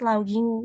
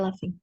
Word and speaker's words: laughing: last time I was loging with my friend in the last time bacanya bukan loging bacanya gimanaing i Coba diulang pakai laughing I was I was